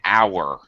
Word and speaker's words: hour: a horse um an hour okay our we don't pronounce the H so it's an hour